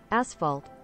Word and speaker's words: asphalt: not enough girls to stands cost am I mispronouncing ashalt I thought it's ashalt how do you say it aspalt isn't it ashalt asphalt asphalt asphalt asphalt asphalt thought was ashphalt asphalt